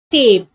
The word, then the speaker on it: tape: If I add e at the end, the vowel inside says its original name sound. T, a, p. Tape.